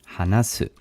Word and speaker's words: 話す: 話す Hanasu.